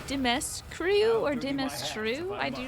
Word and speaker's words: Dimitrescu: So it is like you're kind of like Dimitri or Dimitri-esque. The U is silent according to Romania.